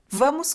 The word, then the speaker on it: vamos: Interesting, the V at the beginning of a sentence maintains a V sound, as opposed to some areas in Spanish where they actually transform it into a B. So this doesn't seem to happen in this variety.